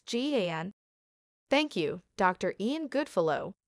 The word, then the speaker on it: GAN: sort one important question out how do you pronounce g-a-n thank you dr ian goodfellow we guess we